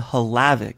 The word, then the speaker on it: Havlicek: Some people are still unclear about that, but Adam Havlicek, I actually looked up the pronunciation of his name, Adam Havlicek. So for those of us who have been butchering it this entire time, there you go.